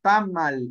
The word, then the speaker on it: tamal: se confunde al principio tamal y el acento va en la primera sílaba tamal es la tortilla